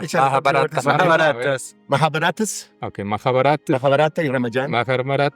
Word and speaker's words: Mahabharata: los instruyeron y según Rudd en el Maharabata, No, es que tú eres bueno para sí. las pronunciaciones. Mahabharata. Échale, Mahabharata.